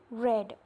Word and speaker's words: read: different sound or pronunciation read red red it is having the pronunciation of the word red red red but its spelling is r e a d red then in the